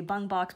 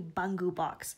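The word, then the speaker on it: Bungubox: in the English world we all say bung box but that is actually not what its name is it's actually bungu box so I'm going to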